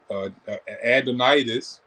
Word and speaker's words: adenitis: tonsillitis are you having a adenitis that's the correct way to say it but if you're having